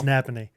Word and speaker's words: Napanee: It's Napanee. Oh, and I think we've been pronouncing it wrong. Everyone around there was putting the emphasis at the end of the word. Napanee? Yeah. Like Napa know-how.